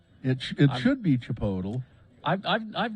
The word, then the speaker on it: Chipotle: is in fact how you pronounce it chugi now I don't know I for some reason they say that I've gone to those Chipotle restaurants before and but they say that apparently that's not how you say it it's not supposed it should be Chipotle